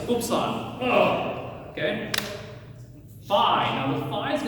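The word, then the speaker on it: upsilon: Now we're going to go with the short pronunciation on this is the most frequent put oops on like right. So hoops on.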